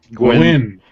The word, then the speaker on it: Nguyen: Dustin Nguyen. Gwen. The N is silent.